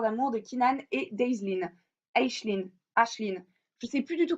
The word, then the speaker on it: Aislinn: Ashlyn. Je sais plus du tout comment on prononce le nom. Moi, je le prononce à la française, je le prononce Aislinn.